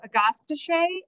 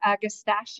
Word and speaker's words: Agastache: So agastache or agastache, you pronounce it two different, and this is paniculum.